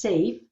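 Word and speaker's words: SAHF: the future which is s-a-h-f and is pronounced safe so what is the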